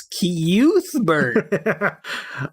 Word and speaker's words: Cuthbert: saying, "You guys are killing me with your pronunciation." It's Cuthbert.